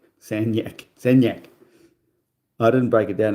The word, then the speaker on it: Sagnac: Yet they pronounce it san. San yak. San yak. Sanac.